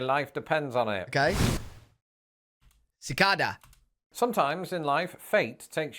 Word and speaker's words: cicada: realised that, in fact, in Britain, where this insect is in fact very rare, the word is often pronounced, and this somehow feels wrong to somebody who only learned the word when living in America, cicada. Cicada.